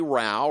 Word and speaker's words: Rowell: assistant coaches for Baylor acrobatics and tumbling Kelsey Rao rhymes with Tao is with us welcome to you